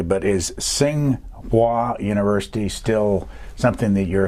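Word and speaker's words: Tsinghua: not sure I'm pronouncing this correctly but is Tsing hua University still something that you're associated with yes I go to China a couple of times a year to sing wah which is one of the two big universities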